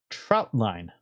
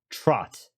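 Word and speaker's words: trotline: or trout line I I keep want to say trout as in like the fish trout but I think it's pronounced TR uh Trot like like a horse trots anyway you have to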